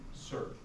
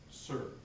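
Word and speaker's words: Suhr: by Advantages by Jim Sir. That's S-U-H-R. It's Choosing by Advantages by Jim Sir. And Sir is spelled S-U-H-R.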